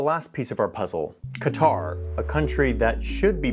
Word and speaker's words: Qatar: till I show you this graph with Qatar in the mix.